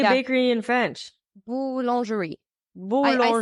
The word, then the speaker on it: boulangerie: Working in a boulangerie, bakery. A bakery. Yeah. Oh. Yeah. This is the right name, right? Nice. Yeah. How do you say bakery in French? Boulangerie.